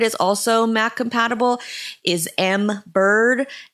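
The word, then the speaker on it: Embird: Another one that I've heard is also Mac compatible is Mbird. It's spelled E MB and then literally bird like tweet tweet.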